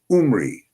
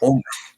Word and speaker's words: Umri: in most uh scriptures they call him Omri, but his real name was Umri, not Omri.